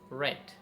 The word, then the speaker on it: read: something you read so third form of read is red in written the spelling are same r e a d read but in pronunciation we say red okay so for example